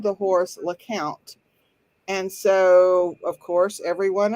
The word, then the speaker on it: Lecompte: it's pronounced look out it is pronounced like count because the family who owned the horse they had a little girl who for whatever reasons called the horse le count and so of course